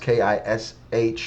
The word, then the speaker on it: Kish: I know it says K-I-C, but that's actually pronounced K-I-S-H, like Cush, Kish, which is the son of Ham, firstborn son of Ham.